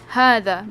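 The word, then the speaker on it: هذا: okay so number one hada it's pronounced as ha okay so it's pronounced as hada but it is written without the first alif where is the first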